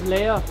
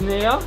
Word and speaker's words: Nea: I thought it was Leia. It's Nea.